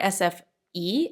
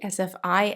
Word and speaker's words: SFI: to say it because the i in swedish is pronounced e so for me i would say sfi in sweden they say sfe so i'm going to say